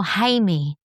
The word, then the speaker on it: Jaime: Jaime. Como es como Jaime. So it's like right, Jaime. it's a man's name in Spanish, and it's very.